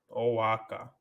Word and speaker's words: Oaxaca: Oaxaca pronounce Oaxaca. Oaxaca.